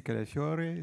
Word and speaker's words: Calafiore: Mathieu Calafiore, c'est ça, Calafiore? Est-ce que c'est la bonne prononciation? À l'italienne, c'est Calafiore, sinon c'est Calafiore. C'est... Bon, mais OK. Alors, les deux, ça va.